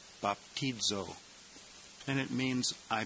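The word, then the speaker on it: βαπτίζω: one is bapo bapo the Zeta is pronounced almost like DZ in this word baptizo and it means I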